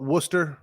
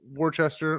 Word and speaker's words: Worcester: yeah because it's from worcester worcester worcestershire like warcester mass they call it worcester instead of worchester or woos now is it from